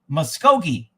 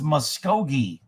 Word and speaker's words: Muskogee: man there's just so much conspiracy muskokane is pronounced moshko muskogee so it's muskogee oh muskogee in in the old oklahoma muskogee